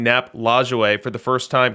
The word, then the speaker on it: Nap Lajoie: And let me get some props in the chat for pronouncing Nap Lajoie for the first time correctly on any stream.